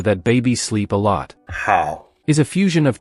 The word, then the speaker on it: 好: Hao is a fusion of 2 characters, nu, representing female, and zi, symbolizing son.